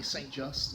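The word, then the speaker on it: St Just: just I'll pronounce it the English way st. just we followed the ridge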